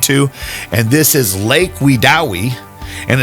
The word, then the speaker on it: Wedowee: of that is located near the town of wewi Alabama wewi I'll have that on the screen in casee you're wondering how it's spelt but I had a great weekend I